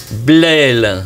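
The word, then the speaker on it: Blesle: petit village qui est blelle alors il y a un S mais il se prononce pas voilà ça s'écrit blessle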